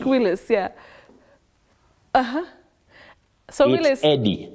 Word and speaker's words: Eddie: like this name it's just Eddie not idy thank you will thank